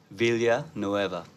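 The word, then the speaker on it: Villanueva: Vilya Nueva. Vilya Nueva. Nice. Yeah, bro. That's it. Vilya Nueva. So it's pronounced differently, I suppose, in some countries. It is of Spanish origin, but Filipinos and all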